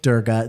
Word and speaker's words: Durga: everything you do exo durga the g is pronounced like garden not jam but it's totally fine